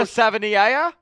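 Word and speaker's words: Savaiinaea: I used to think of Sabia. It's not that simple. Jonah Sava. It's a lot. Whatever you think it is, it's more difficult. It's Jonah Savia. It has like eight syllables.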